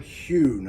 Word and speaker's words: Heughan: by the name of Sam Hewn, and I think that's how he pronounces his name. It's spelled Heughan. I think it's Sam Hewn.